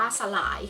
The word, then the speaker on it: สลาย: ยัก อยู่ ใช่ ไหม จะ ต้อง อ่าน ว่า แบบ นี้ ค่ะ ขอ ลอ อา อา ยอ หลาย นะ คะ ดัง นั้น อ่าน แบบ นี้ หอ นำ จะ ต้อง เอา หอ ไป ใส่ ด้วย ดัง นั้น คำ นี้ อ่าน ว่า สลาย ค่ะ นะ สลาย ค่ะ เดี๋ยว